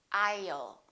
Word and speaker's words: I'll: some very common words the word will I will sounds like I'll repeat after me aisle don't say I put a little up between the I and the L I y'all aisle I'll call you I'll